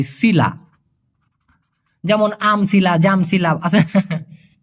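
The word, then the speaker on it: sila: এই কথাটা ব্যবহার করে এস আই এল এ উচ্চারণটা হবে সিলা যেমন আমলা জামসিলা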